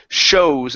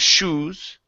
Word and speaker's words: shows: Now here, make sure that you're hitting the O before you get to the oo. Okay. So it's shows instead of shoes.